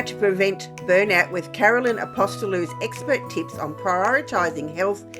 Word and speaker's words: Apostolou: have the absolute pleasure of speaking with Carolyn aposto now Carolyn please tell me I pronounced your last name correctly yes you have